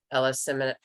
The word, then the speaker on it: eleemosynary: permit use for schools and educational institutions, philanthropic, eleemosynary, I always mispronounce it.